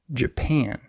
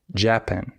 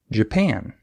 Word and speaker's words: Japan: example the country Japan in this word the second syllable is stressed Japan however many English Learners stress the wrong syllable they say Japan and that's wrong but it's very easy to notice if a teacher points that out to you and it's very easy to fix you just stress the other syllable instead of Japan you say Japan right it's not hard